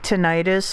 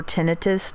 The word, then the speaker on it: tinnitus: sudden you get this burst of like tinnitus or tinnitus depending on how you wish to pronounce that and you're like oh